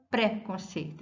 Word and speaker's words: preconceito: Eu não falo preconceito, e sim preconceito. A sílaba forte é sei.